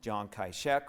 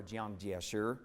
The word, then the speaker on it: Jiang Jieshi: One of them, Chiang Kai-shek, or Jiang Jieshi in the Chinese pronunciation of his name, returned to organize Sun's military forces in southern China.